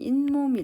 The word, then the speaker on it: 잇몸: 자 몸이 결합하면 자 우리가 이거 발음할 때는 잇몸이 라고 발음이 되죠 자 이렇게 자아 말이